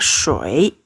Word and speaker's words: shui: Nah, kalau dirangkai jadinya shui, E-nya hilang. Shui, ya. Penulisannya hilang, tapi bacanya seakan-akan ada E-nya. Shui, bukan shui, ya.